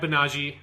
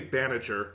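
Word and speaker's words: Banagher: gundam but yeah so if unicorn gundam you had banaji um which is not the way that it's spelled it so it feels like a weird pronunciation english but that's just how it sounds and any other pronunciation is so far away i just can't say it you're not going to say baniter that doesn't it just it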